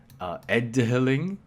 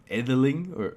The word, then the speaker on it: edhiling: So depending where you are and when, this could very well be pronounced as edhiling, where this would be actually an aspirated D sound.